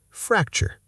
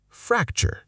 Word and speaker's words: fracture: Fracture. You know this word, but do you say it correctly at speed? Fracture, not fracture with equal weight. The second syllable almost disappears. Chur. Fracture.